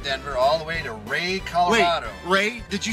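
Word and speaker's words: Wray: down out of denver all the way to ray colorado ray did you say we went to ray yes but it was spelled with a w excellent all right w excellent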